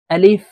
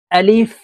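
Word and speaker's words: ألف: সঠিক উচ্চারণ হবে না আলিফের উচ্চারণ তাড়াতাড়ি করে পড়তে হবে আলিফ আলিফ বা এখানে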